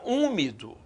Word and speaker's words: úmido: A palavra úmido, né, ninguém pronuncia esse H.